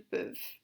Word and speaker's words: peuvent: And il a plural, ils peuvent. P-E. Oh, I forgot to change colors. On va les faire en bleu. P-E-U-V-E-N-T. Peuvent, again, E-N-T is silent.